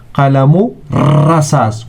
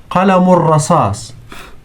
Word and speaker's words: قلم الرصاص: So we don't pronounce lam, which is before it. We don't say al-rasas. No, we say qalamu rasas.